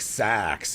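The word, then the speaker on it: seax: It's pronounced like sax.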